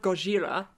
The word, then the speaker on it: Gojira: And talking about Godzilla as a franchise, Gojira is kind of what it's known as in Japan. Created in 1954. Surprisingly. The word Gojira, or Godzilla, we're going to call it Godzilla